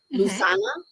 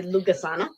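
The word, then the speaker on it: Lughnasadh: And they're telling me in my head, I always say this one incorrectly, because it is the celebration of the god Lu, Lusana. I actually always say Lugasana, because that's how it's spelled, Lucasana.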